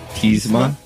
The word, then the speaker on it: Tiesma: And our friend, who I should have asked for his last name, how to pronounce it right, David Tiesma.